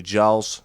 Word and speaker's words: Giles: were put together by Charles Martin, son of late Beatles producer George Martin. Hello, future editing Niels here. I completely mispronounced his name. It's actually Giles, not George.